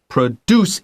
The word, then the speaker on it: produce: that's exactly right uh produce is the verb diarge NG draw the line on the second syllable deuce the noun is pro duct it's the pro first syllable okay let's continue the